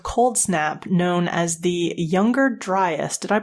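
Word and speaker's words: Younger Dryas: to a 1,00year-old cold snap known as the younger dryest. Did I pronounce that correctly?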